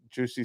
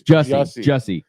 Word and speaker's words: Jussie: Well, you're training so that you won't have what happened to Juicy Smollett. How do you say his name? His real name? Yeah, it's Juicy. Juicy Smollett. Smollett. Jussie. It's Jussie.